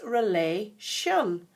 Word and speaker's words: relation: tricky thing is that when you're saying the word relation you don't hear a t in that at all so even though it's spelt r-e-l-a-t-i-o-n t-i-o-n we don't say t on relation it's relay shun kind of sounds as if there's an sh in the middle of it but that's not the way it's spelled and then indeed down